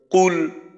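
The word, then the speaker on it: قُلْ: যেমন কুল, কফ লাম পেশ কুল, তো এখানে কফের উচ্চারণটা অস্পষ্ট, স্পষ্ট না করলে, কাফের মতো করলে তাহলে আপনার অর্থ একেবারেই পরিবর্তন হয়ে যায়।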